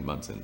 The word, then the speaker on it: Monson: I just learned that the correct pronunciation of what looks like Monson is actually Munson.